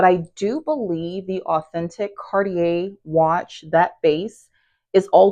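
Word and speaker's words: Cartier: And I don't even know if I'm saying Cardier right because I do believe the way I used to pronounce it, it was I used to pronounce it as Cardiier. And yeah, I realized I was not pronouncing it the right way. So, I do believe it's Cardier.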